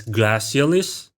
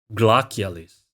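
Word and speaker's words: glacialis: oh by the way I know it's easier to pronounce it as glassis but in classic Latin it is glis which is why I pronounce It glacis wait yeah three different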